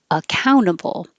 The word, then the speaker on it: accountable: But the T is after the N in the unstressed syllable, so you don't have to say the T. Accountable.